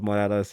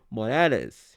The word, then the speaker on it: Morales: But I like to say Miles Morales because you know what, he has a Spanish last name. I gotta make sure that for my Spanish folks, I gotta make sure that I say it right. It's Morales. You know what I'm saying?